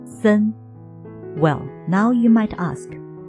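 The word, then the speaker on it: 森: and then derived into gloomy and so on pronouncing Sun well now you might ask how many trees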